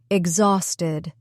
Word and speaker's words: exhausted: Another word we used earlier was exhausted. It has three syllables, too. X house Ted. The stress is in the middle.